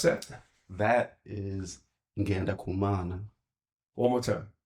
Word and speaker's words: Ngendakumana: So your last name, how do we pronounce that? That is Ngendakumana. One more time. Ngendakumana.